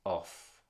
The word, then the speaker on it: off: problems of this nature whereas off is always pronounced off with us very accentuated F sound okay so let's